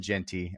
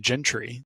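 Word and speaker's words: Jeanty: missed I missed it the commentators kept saying Gentry so at least you didn't throw in extra letters gy was his like how they pronounced it last year and that's why I was following that and then this year they're like Genty and I'm like what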